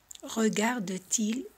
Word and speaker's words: Regarde-t-il: Regarde-t-il la télé? Y también colocamos la T porque el verbo acaba en vocal y el pronombre empieza con vocal para que facilitemos la pronunciación.